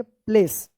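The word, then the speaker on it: place: तो इस ए का क्या उच्चारण होगा? ए होगा और इस इ का कोई उच्चारण नहीं होगा। क्या पढ़ेंगे? प्लेस।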